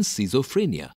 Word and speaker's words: schizophrenia: mache Niche pastiche banash CH is not pronounced in Schism but pronounced as K in schizophrenia GH is pronounced G